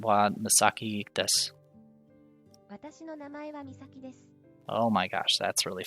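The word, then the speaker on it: です: Just use watashi no name, your name, desu. So I guess watashi no name, the depressed Eeyore. Desu. Phrase 2. Kore wa nake desu. Or des. You're not. I guess they pronounce the U very quickly.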